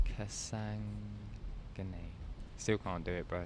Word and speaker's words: Sandhagen: It's pronounced Kasangane.